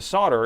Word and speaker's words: solder: So, in American English, the solder is pronounced u with a silent L.